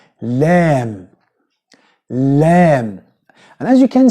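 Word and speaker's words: لام: So, it is not la la, no, it's la la, normal one.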